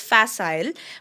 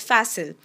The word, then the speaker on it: facile: In US English, this is pronounced as facile, but in UK English, the one that we follow in India, it's pronounced as facile.